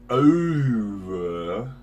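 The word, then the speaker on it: oeuvre: Ladies and gentlemen, welcome to the new segment we're doing called Shit on Spotify, where we go over some of the shit you can find on Spotify.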